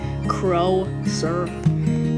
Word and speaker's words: Closer: which is mr closer which is pronounced pronounced crow sir then there's bubba bunny